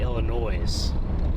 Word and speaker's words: Illinois: When I was a little guy, I would say Illinois. But now, of course, I say Illinois, but I used to think it was Illinois, but the S is silent, so.